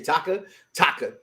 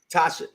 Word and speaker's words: Tasha: Because I keep wanting to say Taka. What's it again? Tasha. That's her name is really Tasha? It's like Tasha. It's okay, like that's a weird name to spell Tasha.